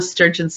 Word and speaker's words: Sturgeon: Well, you sent me an article earlier this week about Nicola Sturgeon's sister being a professional medium.